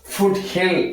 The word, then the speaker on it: foothill: இப்ப இந்த வேர்ட் எப்படி படிக்கணுமா ஃபுட் ஹில். எப்படி படிக்கணும் ஃபுட் ஹில் அப்படின்னு படிக்கணும். புரியுதா?